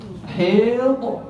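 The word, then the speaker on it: حيض: Haid. Asal bacanya haid. Tapi orang sebab lidah kita ni tak biasa guna huruf ha pedah.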